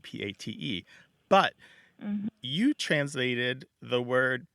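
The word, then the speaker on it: patte: you translated so you they're they sound almost the same pot and Pat so so it's so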